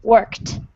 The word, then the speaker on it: worked: So you have to say the word work and add this final sound, t, worked.